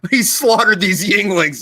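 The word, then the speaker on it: Yuengling: the east coast but it's called yingling but it's spelled youngling but instead of that u there's an eye there and uh it's it's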